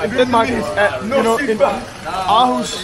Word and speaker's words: Aarhus: It's because in Denmark, you know, in Aarhus, it's a double A, and double A is called O. Okay. AA is called O. O. You know, Aarhus is AA. R-I-H-U-S. So it's called Aarhus.